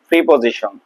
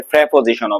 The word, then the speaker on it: preposition: আজকের আলোচনার topic প্রিপজিশন, বা অনেকে এটারে প্রেপজিশনও বলে। আমরা স্বাভাবিকভাবে প্রিপজিশন বলি, বা যারা খুব শুদ্ধভাবে খুব ভালোভাবে উচ্চারণ করে তারা প্রেপজিশন বলে। প্রিপজিশন বা প্রেপজিশন কাকে বলে?